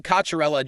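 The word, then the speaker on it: Cocchiarella: Kacherella.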